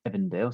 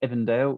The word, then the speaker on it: Avondale: here is the suburb it's spelt avondale but in new zealand english it is pronounced evandale so i will call it by its proper name here's a suburb of evandale it is in west